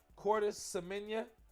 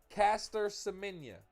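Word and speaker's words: Caster Semenya: With that being said, this is uh uh Cortis Semenia. Did I say her name right? Did I say her name right? Let me put some respect on her name. Caster, excuse me. Caster Semenia, it's her name from South Africa.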